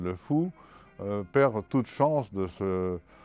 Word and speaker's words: Le Faou: Et celui qui arrive en Bretagne et qui prononce Caden au lieu de Cadin ou le faou au lieu de le fou perd toute chance de